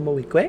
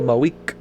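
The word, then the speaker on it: Moreau: clues in all right let's call chantal chantal mohique i love her name which of course i just recently learned how to pronounce it because i was calling her chantal my week and that's not it usually these silent but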